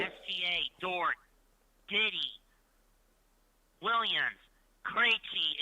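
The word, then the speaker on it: Krejčí: Krejci is how you pronounce his name. His name is Vito Krejci. You know, like David Krejci of the Boston Bruins.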